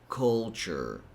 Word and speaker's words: culture: This one, the biggest thing you have to remember here is that T sounds more like a CH as in choke. So it's culture, culture.